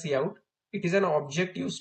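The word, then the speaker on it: cout: It's pronounced as see out.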